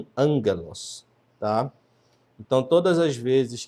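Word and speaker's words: ἄγγελος: Quando isso acontece, o primeiro gama se pronuncia como se fosse um ni, um som de n, nal. Por isso, ele é chamado de gama nasal. Então a pronúncia aqui não é aguelos, mas é angelos, tá?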